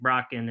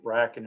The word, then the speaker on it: Bracken: Tyler Cacciatore, and Isaac Brocken, and do you think they'll be ready for fall? Yeah, they're all in town working out. It's Isaac Bracken, I think, the way we pronounce it, but they're all here,